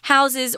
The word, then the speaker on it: house: that the pronunciation changes I'm not saying house with an S I'm saying house with a Z sorry it's a little